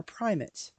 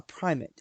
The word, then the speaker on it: primate: has a primate, and it's spelled Primate, and it is mispronounced all the time in church when we pray for the primate. Quite often they refer for the primate. No, our primate is not an ape, not a chimp.